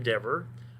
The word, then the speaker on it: Dever: i am dr dever i'm the chair of the department never ever clever endeavor that's how you pronounce my last name can't remember that just